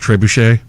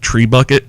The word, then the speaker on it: trebuchet: know that it's pronounced trebuchet but I used to with people and I would call it tree bucket because that's how it kind of looks it's spelled and they would just